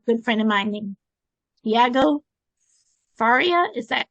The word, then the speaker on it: Tiago Faria: you meet a good friend of mine named dieago Faria is that correct yes indeed oh good I never know sometimes I mispronounce things but he helps coaches and mentors